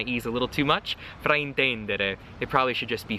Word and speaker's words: fraintendere: Fraintendere or fraintendere. Probably needs a more open E. Sometimes I tend to tighten my E's a little too much. Fraintendere.